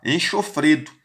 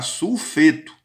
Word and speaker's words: sulfeto: O S é enxofre, mas a pronúncia do enxofre é sulfu. Cuidado para não colocar enxofreto. É sulfu mais eto. Vai ficar sulfeto.